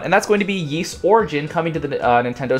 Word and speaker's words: Ys: it might be but the yeast series uh ys it kind of has a weird pronunciation um it's been a